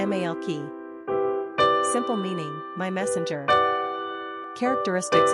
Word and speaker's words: Malakai: pronunciation Mal key simple meaning My Messenger